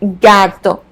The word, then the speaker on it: gato: or go in Spanish the hard G sound is represented by the letter G when it's followed by the letters a o or U for example the word gato gato attention to this